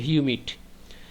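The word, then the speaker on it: humid: এটা হামিদ না। উচ্চারণটা হচ্ছে হিউমিড।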